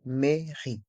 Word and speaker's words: mairie: mairie la la maie dans le mot mairie les voyelles a et i font le son e la maie et le E est mué la mairie la mairie le musée